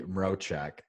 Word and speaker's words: Mroczek: I am pumped today to have Phoebe Mrochek. Did I pronounce it right?